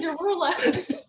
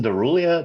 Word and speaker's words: Derulo: Dench doing with Jason Derulo? Yes, and I don't even know what like I'm gonna mangle this. Is it Jason Derulia? Derula? How do you say his name? Jason Derulo. Jason Derulo.